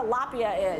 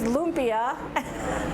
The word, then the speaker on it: lumpia: put up pictures because i don't know what a lapia is and i'm like well it's lumpia and yeah we can